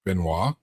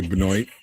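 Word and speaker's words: Benoit: name, but I'm gonna as many people as mispronounced the name Benois and just say Benoy.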